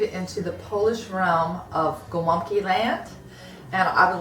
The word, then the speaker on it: gołąbki: So gołąbki is pronounced with the W for the L.